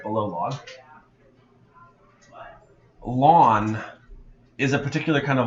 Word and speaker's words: ln: now this is called lawn you pronounce it l a w n as though it's like your front lawn this is actually a